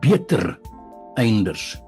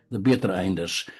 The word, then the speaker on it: Beter-einders: Je tiens à bien le prononcer : Beter-einders, et non bittereinders.